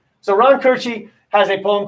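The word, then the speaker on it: Koertge: pronounce his name um i would i would say this is cortez but it's ron kirchy so ron kirchy has a poem called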